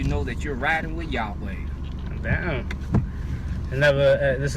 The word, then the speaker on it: Yahweh: In English, the transliteration is Yahweh, Y-A-H-W-E-H.